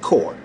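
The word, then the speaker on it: corps: for the S cuz we spell it c o r PS all right but we pronounce it core pronounce my Marine wrong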